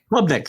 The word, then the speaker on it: Klubnik: Klubnik, thank you.